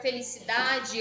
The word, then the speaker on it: felicidade: O da é a sílaba tônica, então a gente vai colocar ele aqui do ladinho.